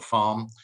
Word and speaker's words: Pharm: part of wpp called the farm which is spelt ph arm which is a dedicated team